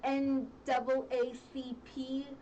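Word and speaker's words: NAACP: all these things the N double a c p is how you say yes I always mess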